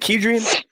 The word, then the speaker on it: Kedrian: Is it Kedrian? Yes, you said it right, man. Most people mess it up, man.